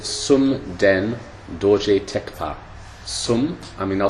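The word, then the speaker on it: Thekpa: Tekpa is usually spelled T-H-E-K-P-A, but the H is silent. Sunden Dorji Tekpa.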